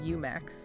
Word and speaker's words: UmaX: Commissioned by UMAX, which by the way is pronounced UMAX.